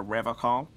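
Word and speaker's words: Revachol: you said rev call I like to pronounce it the hard way the old way way the vespertine way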